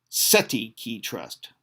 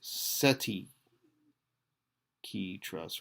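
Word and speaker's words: cestui que trust: In this phrase seti is pronounced seti with the accent on the first syllable.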